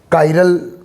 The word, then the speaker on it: chiral: काइरल pronunciation हो सकता है या किरल हो सकता है।